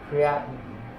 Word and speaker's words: creatinine: C-R-E, I think it's spelled C-R-E-A-T-I-N-E. What's that? Sorry, it's C-R-E-A-T-I-N-I-N. Oh, there we go. I forgot the I and I. It's okay. Yeah. Creatinine. Not the creatine, but the creatinine.